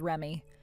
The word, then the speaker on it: Reme: She has it spelled as Reme, but you're supposed to pronounce it as Remy.